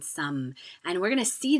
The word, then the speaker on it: sommes: Just like we don't pronounce the final S in nous or vous, we don't pronounce the final S in some.